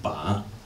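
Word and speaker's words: 把: This is the Chinese character, which is ba.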